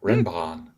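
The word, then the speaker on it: renban: it renbon is is because it's from Japanese and that's how it's pronounced in Japanese uh it's very respectful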